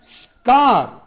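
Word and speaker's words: scar: sir okay number 10 ஸ்கார் எஸ் சி முன்னாடி வந்திருக்கு ஸ்கார் தழும்பு அதை கார்னு சொல்லிடக்கூடாது முன்னாடி அந்த எஸ் உச்சரிக்கணும்னு அப்படியே ஸ்கார் தழும்பு நம்பர் 11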